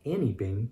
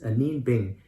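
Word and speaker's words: Anine Bing: she sent us this anembing jacket it's not any bing because some people get it wrong and they think that it's pronounced and and it looks like it's spelled annie but it's a nin bing and it's on our bolo bucket list she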